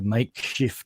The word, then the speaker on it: Maikshifter: So my stuff is going to be released under Maikshifter Modular. And by the way, Henrik, that's how you pronounce Makeshift. So it's actually a play on the word makeshift, M-A-K-E.